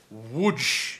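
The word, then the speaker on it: Łódź: know what Hamsterdam is there is a city in Poland and it's called wood it's it's spelled loads though that's kind of DZ somehow makes wood and well you know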